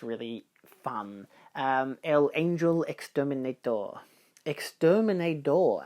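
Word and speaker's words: exterminador: Exterminator, actually. There's no T in there.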